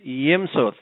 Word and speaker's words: Yimsut: Our Guest today now Tim how do you pronounce last name properly is yimu yimu is an author author of facing